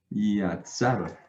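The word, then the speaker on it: יצר: Yatzar. ¿Listo? Entonces aquí lo tenemos. Yot, con Kametz. Ah, no, con Pataj. Sadi, Kametz y Resh. Yatzar. ¿Listo?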